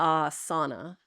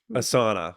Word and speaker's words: asana: And that one's often mispronounced as a asana. Asauna. Yeah. Like what the Dutch people go into during the winter time to with their body. But it's not. It's asa, right?